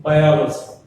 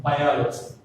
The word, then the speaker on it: biology: For example, if we take biology. What is that? Biology. This biology has 4 syllables. What are they? Bi-o-lo-zy. From the ending, O is the 3rd syllable. So stress falls on the O.